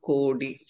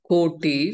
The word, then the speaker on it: कोटि: वक्रतुंड महाकाय सूर्यकोटि टकार कोटि, not kodi or koti, koti समप्रभ बकार महाप्राण निर्विघ्नं कुरु मे देव सर्वकार्येषु सर्वदा शु शकार सरस्वती दीर्घं न उच्चारण कर्तव्यम्।